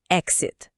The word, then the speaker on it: exit: Aqui o X não soa como ks, como em exercise, ele soa como gz. É o mesmo som de X em example ou existit, muito comum em placas, claro.